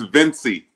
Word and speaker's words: Vencie: Pronounce it. It's Vencie.